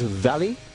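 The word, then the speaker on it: Vale: this is in fact Veil Mining Company Portuguese pronunciation is Valley and the full name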